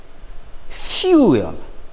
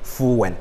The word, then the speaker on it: fuel: hand is one syllable fuel is one syllable that sometimes we here will say fuen it is not full but fuel it's one syllable now while the word